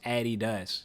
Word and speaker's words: Adidas: German guy is named after Adi Dassler. So it's Adidas.